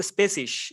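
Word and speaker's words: species: এটার proper pronunciation হচ্ছে স্পেসিশ এরকম কিছু একটা, স্পেসিশ।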